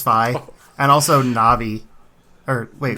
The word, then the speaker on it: Fi: is it fi yeah I always said fee but apparently it's supposed to be like WiFi like that's the idea so it's fi and also na'vi or